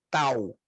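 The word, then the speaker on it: ταῦ: Depois temos a letra tau, que ela se desenha como fosse a nossa letra T, tanto na maiúscula como na minúscula, e é a pronúncia.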